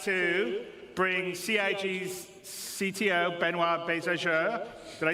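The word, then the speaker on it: Benoit: waffling on I'd like to bring C's CTO benoir bz did I say it right benoir yeah okay good I'm always bad with French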